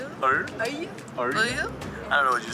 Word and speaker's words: œil: This one is very tricky. Arreux. Close. Yeah. It's œil. Œil.